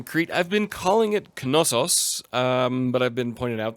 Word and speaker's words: Knossos: First of all, down here in Crete, I've been calling it Knossos, but I've been pointed out that I should call it Nausos or Knossos for the English language, but of course being